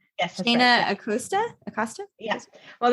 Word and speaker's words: Acosta: your name correctly yes aosta aosta yes well that's like the Spanish yeah a a Costa is like the way